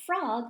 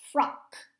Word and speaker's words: frock: we say frock frock so it's not frog like rivet rivet it's frock with a k sound at the end frock so which frock